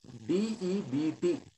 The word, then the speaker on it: debt: What is the DEBT? Can we use the board? Huh? I'll just try to show you. DEBT is debt.